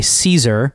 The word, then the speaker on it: Seazer: One of them goes by J.A. Caesar, even though he is spelled Seazer, which I think stands for Julius Albrecht Caesar.